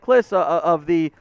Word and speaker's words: Kliss: The initial reporter there, Mike Kliss, that's how you pronounce his last name.